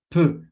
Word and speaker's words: peux: Entonces tenemos pouvoir, poder, y cuando lo vamos a conjugar, yo puedo, je peux, peux. Ese sonido E sale con la boca en O y pronunciando una E como en español. Y normalmente va a salir una E, más o menos, para aproximarlo al inicio.